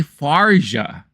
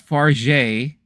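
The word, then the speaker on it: Fargeat: Oh, it's Coralie Farja, not Farge. So it's Farja.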